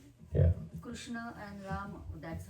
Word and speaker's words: Krishna: So Krishna and Rama that's how we chant.